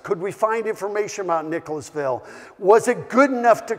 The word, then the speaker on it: Nicholasville: go onto YouTube and see how people pronounce Nicholasville to make sure they didn't shorten it down to Nicholsville seems to be a Kentucky tradition shorten it down and so we have worked